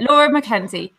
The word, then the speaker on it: Laura McKenzie: Yeah, Laura McKenzie.